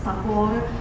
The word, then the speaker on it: Tagore: His English pronounced name is Tagore, and this is how